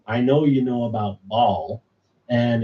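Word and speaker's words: Baalial: for him he said make sure you spell it b a a l i a l like ball L like instead of b ball right so and a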